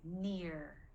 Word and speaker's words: near: end of the day near oh sounds like earth heart bear here or ear yeah it sounds like here so again all of